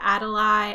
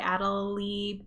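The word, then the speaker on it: Adélie: and again i should really learn how to pronounce this the adelaide adelie penguins with the lowest bill length overall now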